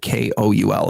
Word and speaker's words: Koul: It's spelled Scaachi. Cool. Koul is her last name.